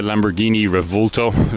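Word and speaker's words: Lamborghini Revuelto: oh yeah the the Lamborghini revolto that's how it's pronounced the uh the newest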